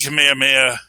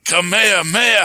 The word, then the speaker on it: Kamehameha: The King Kamehameha shot, and that was just beautiful as far as art goes. I know I said it wrong, but it's something so. It's like Kamehameha, ha ha.